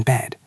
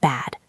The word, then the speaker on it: bed: I am lying in bed. Listen and shadow me. I'm lying in bed. I'm lying in bed. Notice the pronunciation of bed. It is a short, soft sound. Bed, not bad.